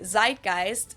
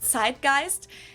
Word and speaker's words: Zeitgeist: some other languages too Americans usually say Zeitgeist in German we pronounce it TI gist and this consists of